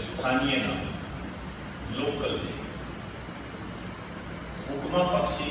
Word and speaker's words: हुक्मा: स्थानीय नाम है इसका, हुक्मा पक्षी। जो लोकल नेम है हुक्मा पक्षी। कई जगह इसको हुकना भी कह देते हैं, एक ही बात है, कोई बड़ी बात नहीं है। हुक्मा, हुक्मा, pronunciation।